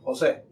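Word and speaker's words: José: Jose. Jose. Jose. Jose. Middle name. No, my name is Joseph. But, you know, in Spanish you pronounce Joseph Jose. Okay.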